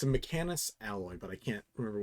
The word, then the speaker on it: Mechanus: We'll just write down Mechanus ore. Like mech, and then anus, and then ore.